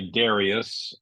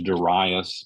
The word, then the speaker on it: Darius: come to uh dasas some people say Darius uh when I was in high school I can remember uh our teacher said Darius I think but uh usually the preferred pronunciation is daras but people say darus dasas and I mentioned